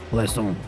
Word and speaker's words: Plaisance: Plaisance. That's how you pronounce it, I swear to God.